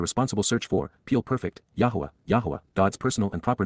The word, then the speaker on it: Yahowah: They will revere, Pakad, they will show profound respect for the awe-inspiring nature of, Kal perfect, Yahowah, an accurate pronunciation of God's personal and proper name as